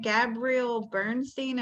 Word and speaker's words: Gabrielle Bernstein: Gabrielle Bernstein.